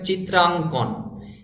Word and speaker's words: চিত্রাঙ্কন: পাঠ্যপুস্তকটি রচনা সম্পাদনা চিত্রাঙ্কন শব্দটির সঠিক উচ্চারণ হবে চিত্রাঙ্কন চিত্রাং রাঙ্কন চিত্রাঙ্কন নমুনা প্রশ্নাদি প্রণয়ন শব্দটি